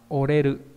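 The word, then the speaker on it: 折れる: Đọc là oreru, nghĩa là gãy.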